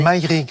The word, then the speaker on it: Maïrig: Et tout ça est tiré de l'album Maïrig. Est-ce que je l'ai bien prononcé? Maïrig, ouais, très bien.